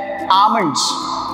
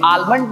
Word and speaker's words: almond: इसका सही प्रोनाउंसिएशन है आमंड्स. क्या है? आमंड्स. यस गाइस, सही सुना आप लोगों ने. ये आलमंड नहीं है, ये है आमंड्स.